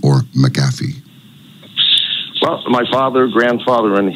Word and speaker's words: McAfee: it do you prefer is the correct pronunciation McAfee or maffi well my father grandfather and his father said MCA but I'll answer to anything okay gotcha all right McAfee it is then I just thought thought it